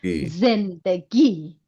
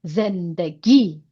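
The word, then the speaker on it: زندگی: This is short vowel of e z then first syllable zen. Second syllable d and last syllable g. Zen G. Zen G.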